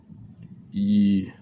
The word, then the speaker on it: Yi: Now, most people know yi, or it's pronounced E, Y-I, is intention.